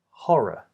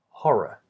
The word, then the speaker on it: horror: The stress being on the first syllable, as you can see here, horror. So, some things you might notice. First of all, the R at the end is not pronounced.